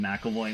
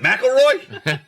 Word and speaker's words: McAvoy: I'm calling him McAvoy now. It's McAvoy. McAvoy. What is it, McElroy? Neither. Just McAvoy.